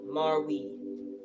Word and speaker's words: Marwe: queen of cups this is marwee marwee spelled m-a-r-w-e marwee um the woman who